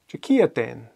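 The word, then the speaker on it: Diciadain: Jakiaten, Wednesday. Okay? And as you just heard, it's a J sound at the beginning.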